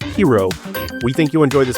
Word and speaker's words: Gyro: So again, hero and the Argonauts pronounced hero.